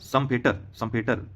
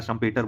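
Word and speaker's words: Schumpeter: Joseph स्कम्पीटर या Joseph संपेटर या शम्पेटर बोल सकते हैं इनको, उच्चारण इसका संपेटर ऐसा कुछ आएगा।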